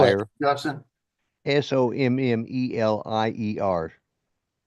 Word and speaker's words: sommelier: Justin, SOMMELIER. Sommelier. Sommelier. It's French.